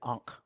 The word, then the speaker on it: ankh: this area here uh well that apostrophe is a consonant that could be several different vowels and then the n and then the H actually has a line under it so it's a hard H sound so that's how you get ankh out of it uh